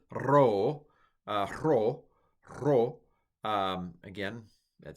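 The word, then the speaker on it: rho: Ro should be a little bit trilled. Ro.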